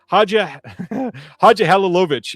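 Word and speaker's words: Hadžihalilović: I believe it's Lucille Hadjilovich. Oh, I had it the first time. Hadjihalovich. I believe that's pretty close. Halilovich. There it is. Halilovich is, I believe, the right way to say it.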